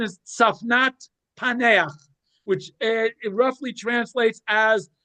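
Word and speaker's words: צפנת פענח: The pronunciation is Safnat Paneach, which it roughly translates as the revealer of secrets.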